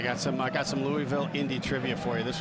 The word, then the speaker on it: Louisville: back comforter saying you're saying it wrong it's louisville but i have now lived in indianapolis for 27 years so i am prone to say louisville instead good find great